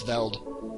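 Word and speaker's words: Veldt: in the belt or that's a silent t but it's veld fire keep fighting on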